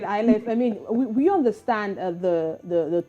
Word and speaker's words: Iliff: I think I probably mispronounced your surname. Could you help us with that, Fiona? It's Fiona ILIFF.